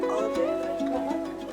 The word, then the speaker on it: Kobuk: Kobak. Kobach.